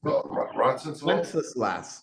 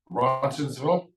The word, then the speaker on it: Roncesvalles: I'm trying to pronounce the name of the street. I always watch it. Wenceslas. Is Thank it you. Wenceslas? No, Rob got it. What is it, Robert? Roncesvalles?